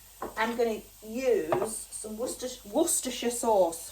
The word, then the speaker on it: Worcestershire: For all my American friends, it's Worcestershire. Very easy, Worcestershire sauce. But please don't stop saying it the way you say it, because I love how you say it, Worcestershire.